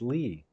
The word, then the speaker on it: Leigh: I've been calling him Leigh all this time, but it's Lee.